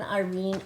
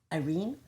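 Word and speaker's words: Irène: Irene. Irene? Or Iran is how she would pronounce it.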